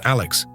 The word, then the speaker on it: Aske: Stuart's nephew is a young schoolboy named Aske Stenström, pronounced as Alex.